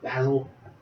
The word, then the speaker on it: Basil: Basil. I think he says it Basil. It's spelled like the herb.